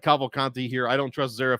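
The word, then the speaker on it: Cavalcanti: Cavo-Conte. That's how it's pronounced.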